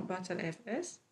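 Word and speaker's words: Btrfs: Le PTR-FS, ce système de fichiers qu'on prononce souvent BattleFS, il utilise le concept de extent aussi, tout comme le EXT4.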